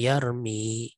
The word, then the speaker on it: يَرْمِي: Kemudian sukinatil ya'u, huruf ya-nya disukun. Kenapa dia disukun? Listithqalid dhammati 'alaiha, karena beratnya pengucapan dhammah pada huruf ya. Yarmiyu, itu dhammahnya terasa berat. Maka disukun fasara yarmi, ya, sehingga menjadi yarmi.